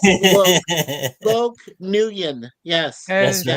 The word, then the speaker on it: Nguyen: Loke Nguyen. Yes. That's And Yes. right. And you don't pronounce the G.